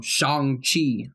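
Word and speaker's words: Shang-Chi: the father of um shang chi uh is how they say it in the movie he's the father of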